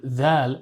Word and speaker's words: Dhaal: In Arabic, the letter Dhal represents the sound th, similar to the th sound in this or that. But even in just what we've learned so far, we can see the importance of proper pronunciation, right? We don't want our dhal to sound like a tha, because in Arabic, changing